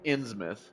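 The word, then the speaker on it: Innsmouth: the people from insouth it is pronounced insouth by the way ongoing feud he returned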